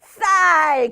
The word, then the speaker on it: 쌀: 조금 세게 쌀, 그쵸? 살이 아니라 쌀.